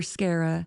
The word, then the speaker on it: Scarah: I told her Scarra. She asked me how to spell it. I told her like Sarah but with a C.